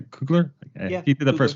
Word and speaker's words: Coogler: directed by Ryan coogler am I saying that coogler yeah he did the first one as well